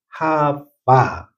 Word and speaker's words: 하와: 그리고 그 여인에게 나타나서 여러분 창세기 3장 20절에 보면 아담이 범죄하고 난 다음에 자기 아내 이름을 하와라고 지어 줍니다. 원문대로 발음하면 하빠.